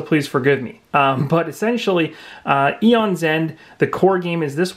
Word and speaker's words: Aeon's End: original Aeons end and I want to say a on so much inside but the a is silent in this case I looked at the pronunciation and it's actually eons end so you almost have